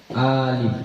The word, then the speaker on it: Alif: membacanya a-nya dibaca panjang Alif bukan ya Alif Anya pendek saja hamzahnya dibaca pendek Wal alifu dukhulul Alifi jangan dukhulul Alifi salah ya hamzahnya dibaca pendek saja ya alfathatu Wal alifu